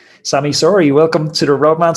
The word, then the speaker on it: Sami Sauri: 200 kilometers getting that average speed up sammy sorry welcome to the road man cycling podcast thank